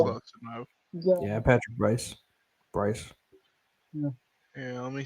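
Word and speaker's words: Brice: His name is Patrick Weiss. So I don't Yeah. know if I'm pronouncing that right, but I think yeah. Yeah, it's Yeah. Uh, close enough. yeah, Yeah, Patrick Bryce.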